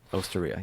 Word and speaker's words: Osteria: Well, your restaurant, your Osteria. That's how you say it, right? Osteria, yes. That place is awesome.